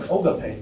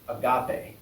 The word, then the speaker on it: Agape: So it's, even one was like Ogape. They kept saying, Ogape. I'm like, okay. And we pronounce it agape.